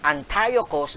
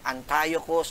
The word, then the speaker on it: Antiochus: When Antiochus, no, it has different pronunciation, pwede siyang Antiochus or Antiochus po na ito, Fourth Epiphanes po